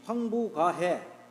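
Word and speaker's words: 況復: 악기 상불릉 이악안 시지 황부가해 황보 여기 이게 부자가 복이라고도 발음되는데 황부라고 할 수도 있고 황복이라고 할 수도 있는데 일반적으로 황부라고 우리가 읽죠. 황부가해.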